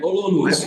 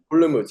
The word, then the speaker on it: Olomouc: Yeah, Olomouc. Yeah. Olomouc, yes.